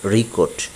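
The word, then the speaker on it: record: যখন শব্দটি ভার্ব হবে তখন এর উচ্চারণ হবে রিকোট। রিকোট রিকোট, এবং নাউনের সময় হবে রেকোট।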